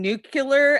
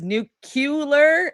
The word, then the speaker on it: nuclear: my pet peeve is pronouncing new killer as nucular and I have had